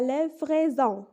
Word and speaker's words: livraison: L'exemple 3, la livraison. Le S ici est situé entre deux voyelles, donc elle va être prononcée comme un Z.